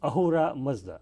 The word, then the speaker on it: Ahura Mazda: Ahura Mazda.